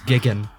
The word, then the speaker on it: Jigen: You also missed out on the dub mispronouncing Jigen's name. It's Gigan.